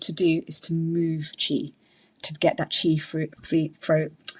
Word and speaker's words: qi: So chi means energy. It's spelled qi.